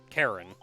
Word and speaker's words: Charon: a c-a-r-o-n which is it's technically pronounced karen which is why i used a k so it actually looks